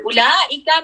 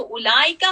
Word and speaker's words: أولئك: और उलाइका में जो उलाइका, हमेशा ये याद रखे, this wow is silent. This wow has, this is नॉट मद. ठीक है, उलाइका. तो this wow is always silent.